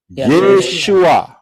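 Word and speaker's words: ישוע: wau Ayin aksara-aksara ini pengucapan di dalam bahasa Indonesia adalah tertulis yesua betul yesua ya benar karena orang Israel ngomongnya yesua lah kita kita gak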